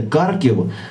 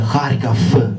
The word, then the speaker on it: Харків: Потім він трясеться бусом у Харків, дивуючись, що пастор вчив його вимовляти Карків, а місто насправді називається Харків.